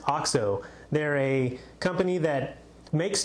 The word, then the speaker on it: OXO: oxxo spelled oxo some people might actually say oxo it's actually pronounced ox 0 they're a company that makes tools to make